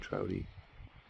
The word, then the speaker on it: Trouty: Trouty is spelled just like trout with a Y on the end. Trouty.